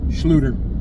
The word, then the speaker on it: Schluter: I'm gonna go to Home Depot to look at some Schluter. Schluter is what I said. That was not a mispronunciation.